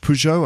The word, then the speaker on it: Peugeot: in french it's citroen uh and uh peugeot uh which i still find difficult to pronounce in french pujo i think it is anyway peugeot so